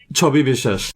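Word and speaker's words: Chhabi Biswas: Chobi Bishesh.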